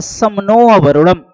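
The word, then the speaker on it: शं नो वरुणः: इसका आदर्श वाक्य है समनो वरुणम शामिल है। उच्चारण में समनो वरुण, जिसका अर्थ है हे वरुण हमारे लिए शुभ बने।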